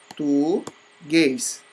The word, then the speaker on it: português: Vejamos, português. Então, chama aí, como se fosse nome de pessoa, português. Então, o guês é o mais forte, logo ele é oxítona.